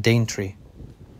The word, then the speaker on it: Daventry: according to local lore daventry has Viking roots with its name once pronounced d tree sparking images of a D Tree these days though